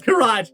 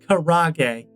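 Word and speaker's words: 唐揚げ: You let him know that it's pronounced Karage, not carriage.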